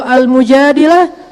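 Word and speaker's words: المجادِلة: Jadi tergantung kita bacanya dilah atau dalah. Kalau kita baca mujadilah, berarti perempuan yang lagi curhat. Kalau kita baca al-mujadalah, berarti curhat itu sendiri.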